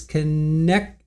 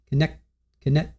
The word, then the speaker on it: Connecticut: Joe says, "Just for the record, I want to say it's connecticut, not connect." Why do you always pronounce the second C's? I always thought it was connecticut. Connecticut. Connecticate.